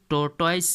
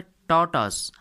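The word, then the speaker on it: tortoise: ध्यान दीजिएगा इसका जो प्रोनाउंसिएशन होता है टर्टॉइस या फिर टर्टास नहीं पढ़ते हैं बल्कि इसका जो प्रोनाउंसिएशन होता है इसमें आर साइलेंट होता है। इसलिए हम इसका सही प्रोनाउंसिएशन करेंगे। टॉटस टॉटस द मॉस्किटो यानी कि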